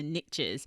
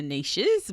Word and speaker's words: niche: riches are in the niches. And look, it just doesn't rhyme if we say the riches are in the niches, what we talk, the way we pronounce it in Australia.